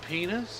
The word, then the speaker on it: Pinus: yeah and lodgepole pine you know that's uh pinus actually they pronounce it the lat the proper laden pronounced eyes like ease so it's actually penis it's a penis contorta so we've arrived in